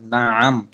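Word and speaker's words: نعم: না আম, উচ্চারণটা খেয়াল করেন। না আম, আইন মিন জবর আম, না আম, চাপ দিয়ে বলে না আম।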